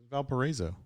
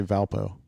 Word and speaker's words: Valparaiso: How are we gonna know that phonetically is correct? If anybody knows, Snoop knows. That's Snoop. He's right there. Valparaiso. Okay. Or I think a lot of people just say Valpo.